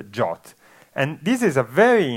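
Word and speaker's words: JWT: has emerged which is called Json web tokens pronounced jot and this is a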